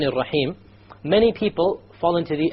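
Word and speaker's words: الرحيم: You cannot allow the tongue to roll. Ar-Rahman is a mistake. Ar-Rahman Ar-Rahim. No rolling.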